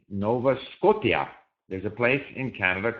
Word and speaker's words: Scotia: T-I-A to him was Tia, Scotia. I almost had the impression he resented the fact that in English, the spelling system was so irrational. And so he would resist the fact that Scotia, in fact, was pronounced Scotia.